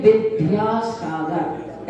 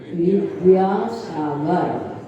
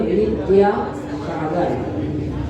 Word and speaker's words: विद्यासागर: सभी लोग बोलते हैं विद्यासागर, ऐसा है ही नहीं, ना बाबकरी का है ना धाधनुष का है, लेकिन सब लोग बोलते हैं विद्यासागर। सही उच्चारण है वा तो वी, दा और या, विद्यासागर।